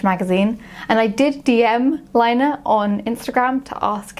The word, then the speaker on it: Laine: And they did send me a voice message in response saying that you should pronounce it the Finnish way and not the French way.